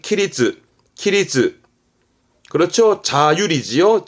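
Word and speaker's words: 規律: 발음은 키리츠, 키리츠.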